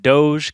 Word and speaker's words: Doge: like doggies i'm like Doge cuz D O G E is already a word whatever i'm I'm putting my foot down it's pronounced Dog of course guys if